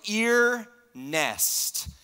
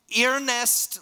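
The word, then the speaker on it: Earnest: you guys in my first name is Ernest but it's spelled EA are like ear nest ear nest jr.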